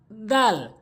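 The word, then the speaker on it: دال: করব খ এরপর আসুন দাল দাল অর্থাৎ জিহ্বার আগাটা নিয়ে জিহ্বার আগাটা ভালো করে বুঝবেন জিহ্বার আগাটা নিয়ে সামনে দুটি দাঁতের আঘাতে লাগাতে হবে যেমন আমার দিকে লক্ষ্য করুন দাল দাল দাল এখানে কিছু কিছু সংখ্যা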